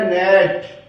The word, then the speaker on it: gnat: नेट। REIGN rain. RESIGN resign, इसमें जी silent रहेगा।